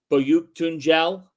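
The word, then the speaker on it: Büyüktuncel: They didn't get the performance that I think they would have liked to get last night in Berke Boyuktunjel. Yes, that's the pronunciation of that.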